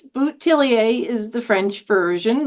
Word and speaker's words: Bouthillier: is sort of funny there's several variations depending on where you live so it's botier is the French version